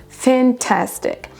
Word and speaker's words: fantastic: Donc là on a fan, une apostrophe, tastic. Donc l'accentuation se trouve sur la deuxième syllabe, sur le ta, fantastic.